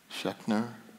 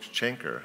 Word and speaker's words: Schenker: occurs to me, and I'm going to get his name wrong, and it's Schechner, the music theory that's taught to everyone. Oh, Schenker. Schenker, yes.